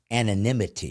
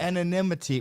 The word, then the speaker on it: anonymity: would be the correct miso pronunciation the correct pronunciation is anonymity anonymity well it's not my fault they have like